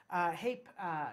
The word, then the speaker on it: Hape: one of the toy papé excuse me haip said it wrong great toys they were